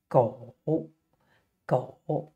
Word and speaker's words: 狗: animal which is a dog and it is pronounced go go the dog so we have two parts the